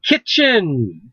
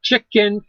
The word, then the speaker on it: kitchen: yeah we'll get it seven kitchen not chicken kitchen i said kitchen